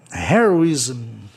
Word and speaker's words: heroism: Hero, heroísmo, heroism, palavra terminada em duas consoantes no fim, geralmente é propaloxítona, tá?